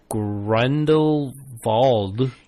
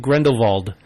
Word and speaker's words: Grindelwald: I have to say, I put Fantastic Beasts: The Crimes of Grindelwald. You messed that one up before. I did mess that one up before. Crimes of Grindelwald. I noticed in the film they all used a